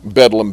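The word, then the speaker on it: Bedlam: parnaces is let out bedum being the um slang uh pronunciation of Bethlehem, the mental hospital in London.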